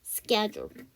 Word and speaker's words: schedule: SCH로 단어가 이루어지게 되면 H가 묵음이에요. 이렇게 묵음되는 거 여러분 알고 계시는 거 뭐 있어요? 그치, schedule. 거기서도 H가 묵음이죠.